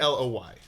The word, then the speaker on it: Aloy: and the character's name's Alloy or how do you pronounce it? It's Aloy. Okay. I would hope Aloy. Alloy. It's all, Alloy it's, would it's, be it's, weird. It's emphasis on the al part, I think.